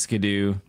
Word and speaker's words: Skiddo: It is pronounced Skidoo. I don't pick the names. That's just how it's pronounced.